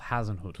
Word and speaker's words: Hasenhüttl: Hasenhüttl. Yeah, I don't even attempt to say his name. Hasenhüttl. No, it's Ralph Hasenhüttl.